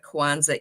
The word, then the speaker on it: Kwanza: So, Quanza, uh Kwanza is a Swahili word. Uh it's spelled with one a at the end.